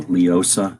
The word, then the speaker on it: LEOSA: So LEOSA is how they say it all the time.